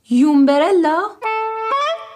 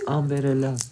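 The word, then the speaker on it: umbrella: چی؟ یومبرلا؟ یومبرلا چیه؟ منم میگفتم یومبرلا. آمبرلا چتر. بچه آمبرلا یعنی چتر.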